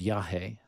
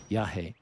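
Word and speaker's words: yajé: form of iasa um is called yah which is spelled y a j e with an accent over the E yah um and and a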